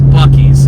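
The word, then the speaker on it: Buc-ee's: we've already been at Bucky's so that's that's already fulfilled my trip is that how you say it that's not because it's buckies I don't care what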